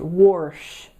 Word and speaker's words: wash: There is a pronunciation of the word pronounced worsh.